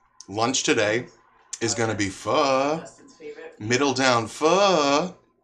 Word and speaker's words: pho: Yeah, you guys familiar with this pho stuff? Let's see. I can pull up a picture for you. Some people call it pho, but I'm pretty sure the proper pronunciation is pho, P-H-O.